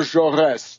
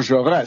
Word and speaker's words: Jaurès: assassination of the great French socialist leader Jean Jaurès, J-A-U-R-E-S, with a little accent on the last